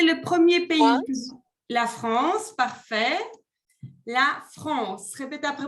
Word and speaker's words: France: La France, parfait. La France. Répétez après moi pour la prononciation.